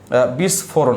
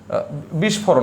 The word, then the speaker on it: বিস্ফোরণ: আসার মত সেটা হচ্ছে বিস্ফোরণ কি বলেছি বিস্ফরণ হবে বিস্ফোরণ না বিস্ফরণ বিস্ফরণ ওকে আচ্ছা আরেকটা হচ্ছে